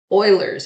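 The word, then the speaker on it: Euler's: take a look at Oilers constant e and yes Oilers it's pronounced like oil so the number e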